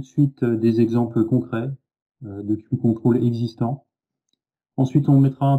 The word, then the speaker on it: QControls: Je vais vous présenter un sujet qui s'appelle les queue control. Alors tout de suite pour lever le doute sur la prononciation, on le prononce à l'anglaise et pas à la française, donc on dit bien